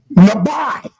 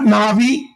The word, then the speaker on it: nabi: You say how do you pronounce the word prophet? Nabi. That's how you pronounce it. Not na'vi. Not uh but the lab by it has to have that I on the end.